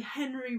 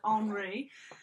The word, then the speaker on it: Henri: So you could say Henry Rousseau, but in French it's like Henri.